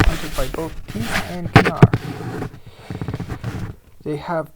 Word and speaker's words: Knar: It's pronounced Knar.